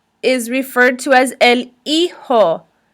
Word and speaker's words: hijo: referred to as el hijo the H is silent we don't say he ho it's a ho el hijo please repeat so if